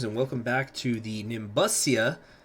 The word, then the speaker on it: Nimbusia: welcome back to the Nimbus SIA that's how it's actually pronounced Nimbus SIA campaign here in hearts